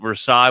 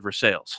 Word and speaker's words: Versailles: They pronounce it Nevada. Nevada. And they have one that's what Versailles would be in France. They call it Versailles.